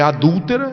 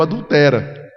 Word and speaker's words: adúltera: Em vez de ler adúltera, ele leu adultera.